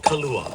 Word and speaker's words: kalua: Style of cooking is called kalúa. K A L U A. Kalúa. No. Little H in there. That would be liquor.